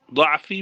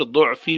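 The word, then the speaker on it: ضعفي: آسان کر دے، وارحم، ضعفی بھی پڑھ سکتے ہیں اور ضعفی بھی پڑھ سکتے ہیں، دونوں تلفظ ٹھیک ہیں، اور رحمت فرما میری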